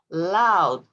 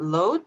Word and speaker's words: loud: ah thank you asan loud so not load but loud okay now this is